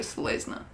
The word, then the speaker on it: Selesnya: I'm going to go Selesnya. And just ignore the Y.